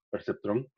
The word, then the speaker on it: perceptrón: Perceptrón. Y lo pronunciamos como si estuviera en español, ¿verdad?